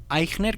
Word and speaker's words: Eichner: en linkedin con mi nombre que es aigner que se escribe e ic h n e r ahí